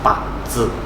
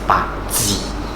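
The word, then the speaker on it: 八字: Depending which dialect you use, because BaZi in simple term is just 8 characters, so that's the direct translation. So if you are using Mandarin, then it's pronounced as BaZi. So if it's using Cantonese, then it's BaZi.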